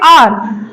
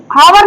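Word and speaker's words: hour: ओ यू आर तो इसको हम पढ़ेंगे आर हावर नहीं पढ़ेंगे क्या पढ़ेंगे आर पढ़ेंगे ने नेस्ट नहीं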